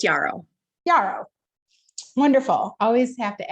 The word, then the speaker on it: Yarrow: We've met a few times, but I want to make sure that I am pronouncing your name correctly. Yeah, it's Yarrow.